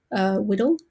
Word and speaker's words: WDL: we use one that's called workflow description language pronounce widdle wdl but there are